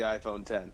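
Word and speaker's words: iPhone X: think it's the iPhone 10 it is the iPhone 10 it is pronounced 10th but there's no nine correct your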